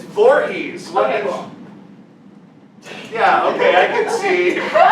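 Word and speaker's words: Voorhees: only take one more question how do you pronounce Jason's last name it's Vorhees yeah okay I can see okay it's D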